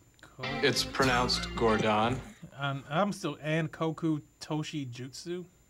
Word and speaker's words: Guangzhou: It's pronounced Gordon. Store, the Nike Guangzhou location, and the Nike... It's pronounced Gordon. The Nike Lab X-158. Guangzhou, which is also Canton.